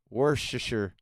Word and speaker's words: Worcestershire: How to correctly pronounce Worcestershire.